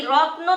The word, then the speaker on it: রত্ন: লক্ষ্য করুন, রত্ন, এই রত্ন থেকে কি হবে? রতন হবে। রত্ন থেকে কি হবে? রতন হবে। এই যে দেখুন, রত্ন এইভাবে কিন্তু কেউ উচ্চারণ করে না, বেশিরভাগ সময় কিন্তু রতন উচ্চারণ হয়।